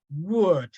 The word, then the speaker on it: would: okay the next one can you help me read this one would exactly the pronunciation is wood w-u-d like that word okay without the L without the ohm okay